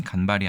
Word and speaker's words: 間髮: 일단이 글자 간발이라고 읽습니다 첫 번째 글자는 장음으로 읽어야 된다고 사전에 나와 있네요 그렇게 되면 간발이 아니라 간발 이렇게 읽는 것이 맞겠죠 자 우리가 흔히 간발의